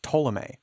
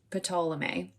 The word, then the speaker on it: Ptolemy: It is, but I obviously the P silent, and I fully was like, no, I think it's Ptolemy. Yikes! I'm sure that it's not entirely silent. I'm sure that it's in there because it's trying to convey some sort of a local pronunciation. You know what I mean? But I don't think it's quite as hard as Ptolemy.